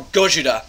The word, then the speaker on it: Gojira: And, or Gojira, as it's said in the book, and of course how it's said in the movie. That's the proper Japanese way to write Godzilla. Gojira.